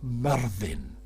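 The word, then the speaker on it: Myrddin: about that all the time and the correct pronunciation for you Rick is Marvin as in the town cair vervin Marvin so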